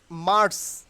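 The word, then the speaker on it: March: করেন প্লিজ সেটা হলো এই যে মার্স এই যে আর will be silent here because আমি আমার একটি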